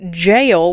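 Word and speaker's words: gaol: and it was like you literally say it like jail I was like and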